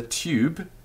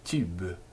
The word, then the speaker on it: tube: moving your tongue so leave your tongue sort of dead there in the mid of your mouth and go e now that part is the tube u there you have